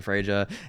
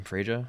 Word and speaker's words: Freja: This was me playing some Fraia and just owning with her, right? I think that's how you say her name. Frea. I thought it was Freya at first, but it's not.